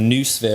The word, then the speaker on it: noosphere: to introduce now is noosphere or new spere is another pronunciation new or no comes from the Greek for mind and noosphere like the